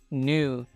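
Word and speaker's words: knew: mengambil meja ajaibnya Nah untuk pengucapan kata knu itu kita gak baca huruf k-nya ya Kita cuman baca n-nya aja jadi bacaannya itu new new yang mana Ini bab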